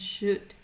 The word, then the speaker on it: should: pronounce the O and we don't pronounce the L so we won't say w or should but we will say would and should so only the the